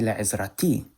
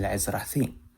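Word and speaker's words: לעזרתי: And if you notice, I said la'izrathi. I didn't say la'izrati, I said la'izrathi.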